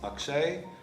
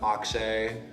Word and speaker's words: Akshay: oh um i guess the traditional pronunciation of my name is akshay um with kind of like that soft a sound and then the way